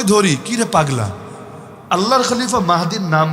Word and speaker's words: মাহদী: বাংলাদেশে এমন পাগলও আছে নিজেকে ইমাম মেহেদী দাবি করে। মাহদী শব্দও বলতে পারে না। মূল উচ্চারণ কিন্তু মাহদী।